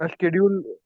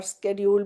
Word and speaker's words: schedule: शेड्यूल यूएस वाले बोलते हैं सुनो, शेड्यूल। शेड्यूल शेड्यूल भी करेक्ट है और स्केड्यूल भी करेक्ट है, वो अमेरिकन और ब्रिटिश स्पेलिंग का फर्क है।